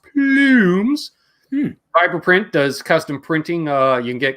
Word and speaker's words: Plumes: He's currently running a contest, I believe, an art contest to win an Earthquaker Plumes, because I believe that's how it's pronounced, Plumes.